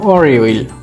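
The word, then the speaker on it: 월요일: সোমবারটা দিয়ে ছিল কি হচ্ছে ওয়াল ইয়োইল, এটা হচ্ছে সোমবার, উচ্চারণ হবে অরিওইল, অরিওইল, সোমবার অরিওইল।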